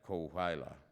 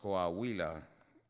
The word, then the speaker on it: Coahuila: He mispronounced Coahuila, saying it as if it were an English word. It's less well known than Chihuahua. Something like Coahuila.